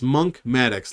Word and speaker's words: Maddox: you pronounce my name not monk it's not monk although that's a pretty good name monk it's monk maddox like mathematics but i'm monk so it's monk maddox i'm